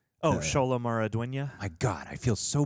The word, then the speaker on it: Xolo Maridueña: But how do you pronounce his name? Oh, Xolo Maridueña.